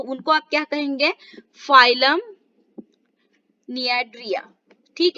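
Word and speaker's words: Cnidaria: आप क्या कहेंगे, फाइलम नियाड्रिया। ठीक है, फाइलम निडारिया। सो आपको यहाँ पर सी साइलेंट हो जाएगा, जैसे मैंने आपको बोला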